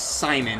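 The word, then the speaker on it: Psymon: there's one guy who his name is Simon mhm spelled s no PS y m i n like psycho I think it's it's it's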